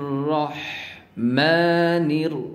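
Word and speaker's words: الرَّحْمٰن: বলা হয় high Houthi এই হাঁটা বলার সময় গলা চেপে চেপে উচ্চারণ করতে হবে গলা চাপ দিয়ে উচ্চারণ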